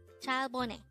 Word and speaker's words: 잘 보내: This is pronounced as a three-syllable word. Actually, this is two words. The first word is 잘, and the second word is composed of two syllables, which is 보 and 내.